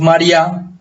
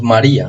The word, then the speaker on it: María: Entonces si pronunciáramos María con acento acá, pues eso sería una sola sílaba. Pero realmente decimos María, o sea, la fuerza está acá, por lo tanto hay